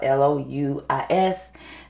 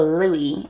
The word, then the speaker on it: Louis: um harry styles and i think i call him lewis because his name is spelled l-o-u-i-s but his fans his followers let it be known it is louis okay so louie is here today now